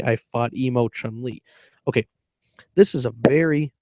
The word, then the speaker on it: Chun-Li: CHUN space LI, which Chun-Li, that is a pronoun, that is a person, okay? And it sounds exactly the same with the right speed and pronunciation as emotionally, EMOTIONALLY.